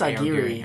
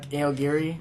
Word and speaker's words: Aogiri: I can't pronounce Agiri, it. I think it's Agiri. Uh-huh. Aogiri.